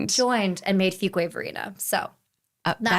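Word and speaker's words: Fuquay-Varina: And those two towns joined joined and made Fuway Verina.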